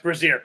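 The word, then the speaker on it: Brasier: like Tanner Houck, who is unvaccinated, and Ryan Brazier. Is that how you say his name? Brazier? Yes, Brazier.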